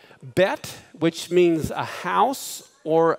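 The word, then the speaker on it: ב: ball in the middle the letter bet can also be pronounced with the V as vet but when they don't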